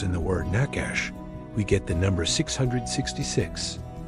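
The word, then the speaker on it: נחש: The Hebrew word for serpent in this passage is the word nakash which is spelled nunched shin.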